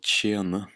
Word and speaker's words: tjene: The TJ can sometimes be pronounced like tsh, like in å tjene, to make money.